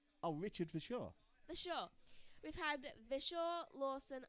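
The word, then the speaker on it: Verschoor: I can't pronounce his name. It's his name. Vescu? Oh, Richard Vishaw.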